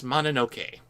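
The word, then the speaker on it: Mononoke: on your pronunciation there it is actually princess manoke and I know that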